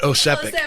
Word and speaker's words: Osepek: Broker Not Bryce. Ozempic, but Osepek.